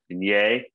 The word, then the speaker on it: Vignes: He's French, so the French pronunciation is usually something like Vignier, but today in California, we have a street named after him, actually near Union Station, and they pronounce it Vignes Street.